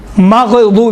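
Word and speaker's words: الْمَغْضُوبِ: اب دیکھیں مخارج مثالیں، غیر مغضوب، ماغ نہیں ہے، ماغ قلقلہ قطب جت میں دنیا میں ہوتا، باقی غین میں قلقلہ نہیں ہے، تلفظ کرتے وقت غیر المغضوب علیہم، ماغ نہیں ہے، مغضوب علیہم، مغضوب علیہم یہ ہے۔ اسی طرح سے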